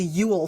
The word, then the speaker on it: Ewell: yeah so um the home belonged to the Ule family it's spelled weird it's spelled ew e e l l but it's pronounced Ule like U like like a Ule log or